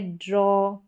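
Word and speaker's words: draw: तो इस तरीके से एक बार स्पेलिंग्स को देख लेते हैं एक एक करके। ये है ड्रॉ, डी आर को ड्रॉ करके पढ़ा जाएगा, जॉ, लॉ, लॉन, पॉ, रॉ, यॉन, ठीक है।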